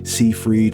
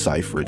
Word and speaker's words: Seyfried: movie I just found out how to actually pronounce her last name always was like see freed cyphreed but no it's just cypher it so I guess it kind of actually makes